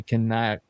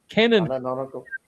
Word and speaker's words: canonical: a second Death Star that's supposed to be canle can how do you say that? Canle. No. No. Canonical.